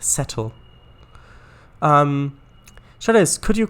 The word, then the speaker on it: Settle: it's c at l seattle you mean seattle no no it's definitely settle it's definitely uh this uh town is definitely pronounced settle um sure this could